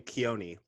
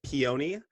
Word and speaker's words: Keoni: yeah I've been called so you say my name keone I've heard peony I heard Keanu which I was almost